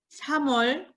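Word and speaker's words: 삼월: Mars, à cause de la liaison, on prononce 3월, 3월.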